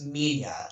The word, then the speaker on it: Minya: Yeah, I mean, it's when you spell it out, it looks like Manila, but when you pronounce it, it's Minya.